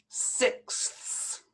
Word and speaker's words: sixths: like 2 over 6 so we would have to pronounce the th and the s at the end so you'll have to take your time with this one two sixths very difficult you have to go